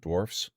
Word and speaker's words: dwarves: Tolkien that it's pronounced dwarves and not dwarfs. It's pronounced as both. Both are acceptable.